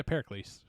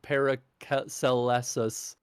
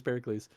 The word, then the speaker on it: Pericles: of Pericles uh yeah Pericles I think I definitely would have mispronounced that I would have said para celestas yeah sort of yeah no I think you're right I think this Pericles uh yeah it just